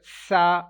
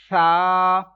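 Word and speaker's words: ث: Ta, read sa letter but without whistle sound, like you can't pronounce this letter sa, that is wrong. You will pronounce this letter, will be pronounced without making whistle sound, sa. Like if you can't pronounce without whistle sound, that means you will have to touch your tongue, front side of your tongue with upper teeth, then this letter will be read perfectly, like without whistle sound.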